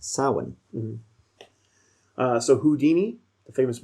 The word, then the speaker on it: Samhain: to know it as it's actually a gaelic word and it's pronounced samhain uh so houdini the